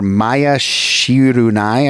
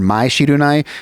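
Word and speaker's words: Mai Shiranui: And they have this character, Maya Shirunai, I think is how you pronounce it, or Mai Shirunai.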